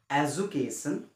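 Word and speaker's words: education: যে এডুকেশন বা এডুকেট আসলে এর ক্ষুদ্র উচ্চারণটা হইছে এডুকেশন ডি ইউ টু এ জ উচ্চারণ করে এডুকেশন বা এডুকেট তো আমি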